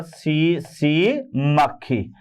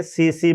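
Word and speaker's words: tsetse: और इसका जो वाहक है, ये है सीसी, यानी यहां पर सीसी मक्खी है ना। तो ये यहां पर याद रखना बेटे, टी साइलेंट है, सीसी मक्खी, जिसका जूलॉजिकल नेम है ग्लोसिना।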